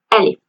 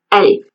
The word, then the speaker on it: ألف: first lesson, which is the first Arabic letter Alif Alif Written from top to bottom "Alif" is the